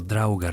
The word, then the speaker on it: draugr: Los nórdicos creían en los Drauger, pronunciado Drauger en plural, cadáveres reanimados que habitaban en los túmulos funerarios.